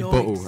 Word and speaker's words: bottle: You're going to say bottle, okay? Dead ass, that's how we say it. It gets made fun of quite a lot, but you'd say bottle. You just don't pronounce the T's.